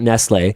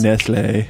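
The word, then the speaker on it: Nestlé: That pronunciation is Nestle. The pronunciation. What do you think that accent aigu is? That's how you pronounce it.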